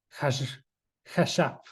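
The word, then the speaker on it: חָשַׁב: que es esta palabra hashab, hashab. Está bien raro esta porque esta palabra no tiene vocales. Entonces se escribe HSB, pero se pronuncia hash, hashab.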